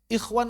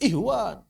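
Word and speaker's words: إخوان: Ikhwan aja kadang-kadang dibaca ihwan, ahwat, ihwan, ahwat.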